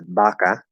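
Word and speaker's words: vaca: you'll see for example the word cow which is spelled with a v is baca you'll see native spanish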